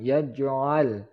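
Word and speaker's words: يَجْعَل: Kemudian yaj'al, jim yaj adalah huruf qalqalah, salah satu dari huruf qalqalah, maka dipantulkan yaj'al. Ingat lam jangan sampai memantul.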